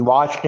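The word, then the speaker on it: watch: D third form भी वाच्ड है जबकि चौथी फॉर्म प्रेजेंट पार्टिसिपल फॉर्म या आई एनजी फॉर्म है वाचिंग डब्लू ए टी सी एच आई एन जी वाचिंग वाच में टी साइलेंट है यू स्टडी इंग्लिश लेकिन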